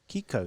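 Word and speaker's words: Kikau: How do you pronounce that? Kiko? Kiko, yeah.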